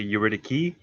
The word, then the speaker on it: Eurydice: Well, I say Eurydice because it's Eurydice. pretty, but Eurydice. I think the proper pronunciation because it's Greek, it's actually Eurydice.